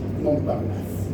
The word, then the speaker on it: Montparnasse: sobre la mesa de Montparnasse, creo que se pronuncia así, Montparnasse.